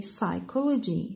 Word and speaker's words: psychology: The silent letter in this word is P. We don't say psychology, we say psychology. So the P is silent.